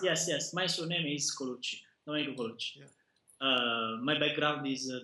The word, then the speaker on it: Colucci: and is it kuchi is that have I pronounce yes yes yes my surname is kuchi kuchi uh my background is computer science graduating